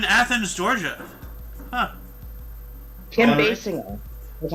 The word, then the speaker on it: Basinger: Basinger.